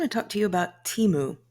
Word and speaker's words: Temu: talk to you about Teemu that's how I pronounce it and everybody's saying